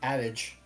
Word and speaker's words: adage: Yeah, I'm pretty sure Miracin is leaning on the adage. It was supposed to be adage.